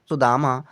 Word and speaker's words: सुदामा: Next है SUDAMA पढ़ेंगे हम सुदामा। एस से छोटा सा लिया, यू से छोटे ऊ की मात्रा, डी से दा लिया, ए का मतलब बड़े आ की मात्रा, एम से माँ और ए का मतलब बड़े आ की मात्रा।